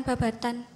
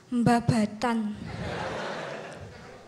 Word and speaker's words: Babadan: tuh SMPN 1 Babadan cuma orang Ponorogo ngebacanya tuh memakai hukum tajwid jadi apabila nun sukun bertemu ba dibacanya iqlab bacanya bukan Babatan Mbah BATAN dan di sekolah Babatan